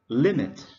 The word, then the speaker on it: limit: Okay, and the next word is limit. Limit, we stress on the first syllable.